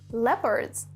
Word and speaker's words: leopard: Now, a few wild animals are leopards. Note the pronunciation.